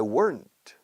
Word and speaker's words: weren't: If I weren't, una sola sílaba. If I weren't, británicos dicen, if I weren't.